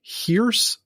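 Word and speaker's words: Hirs: You guys have got to check out the Hearse Collective. It is amazing. Again, it's the Hier is spelled H I R S, but it's pronounced Hierce Collective.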